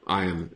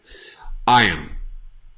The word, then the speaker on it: iron: Again, don't put your iron in your eye. Iron. Iron. Repeat after me. Iron. Maria says iron, iron without the R.